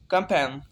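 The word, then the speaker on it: campaign: यहाँ पे एन से पहले जी आया तो इसे हम साइलेंट पढ़ेंगे, साइलेंट हो जाएगा, इसे जी को हम प्रोनाउंस नहीं करेंगे इस वर्ड में। कैंपेन, कैंपेन जंगी कार्रवाई।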